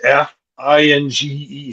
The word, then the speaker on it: Esfinge: Yeah, I'm not sure about the pronunciation. It's Esfinge.